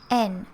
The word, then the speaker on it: yen: the money japanese yen yen by the way is pronounced n in japanese and also i'm gonna teach you a kanji so this symbol here right at the end that means n ah i'm gonna move right here this is n in kanji so you'll be able to find one here here and there and there yen is pronounced n in japanese so drop the y n so let's start from